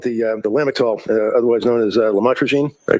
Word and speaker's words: lamotrigine: the drugs, about the Lamictal, otherwise known as lamotrigine. Did I pronounce that right?